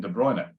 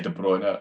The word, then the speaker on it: De Bruyne: but it's the hardest one, and that's Kevin De Bruyne at Manchester City, of City in Belgium, because he will tell you himself. He pronounces his name.